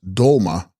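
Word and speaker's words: sgrol-ma: Text, Scrolma, pronounced Dolma, Dolma Sanskrit Tara, equals Savioress.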